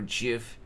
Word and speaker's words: GIF: is it gif or GIF it's confirmed to be gif with a hard G uh because it starts